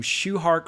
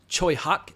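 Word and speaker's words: Tsui Hark: a movie produced by I've always called him shuar or shark but apparently it's Choy Hawk if you say his name correctly I've I've even seen trailers where he's described as shehawk however you pronounce Choy Hawk's name and know TS UI h a r k spelled in English but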